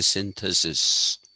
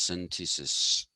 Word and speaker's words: synthesis: Ah, we have a tendency to say synthesis for this. The actual pronunciation of the term is synthesis, not synthesis. Uh, Now, a thesis is a proposition.